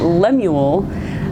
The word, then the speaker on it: Lemuel: Lemuel we had to look up how to pronounce that Lemuel um wrote this and it is said to